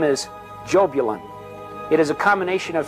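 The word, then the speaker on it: Jahbulon: The name is Jobulan. It is a combination of three words. Jehovah, Baal, and Osiris, the Egyptian sun god. Yah bell on.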